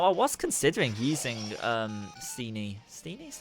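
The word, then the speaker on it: Steenee: Steenie is how you pronounce it on my team in this playthrough, but I did not.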